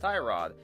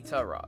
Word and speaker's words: Tyrod: Rod right here his name looks like it's pronounced tie rod it's actually Tara like t u h Rod I and like everybody else have been referring to this man as Tyrod since he entered the league and then one